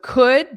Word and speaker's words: could: So could, just notice there's no L in there. Could. And it's a very unstressed sound.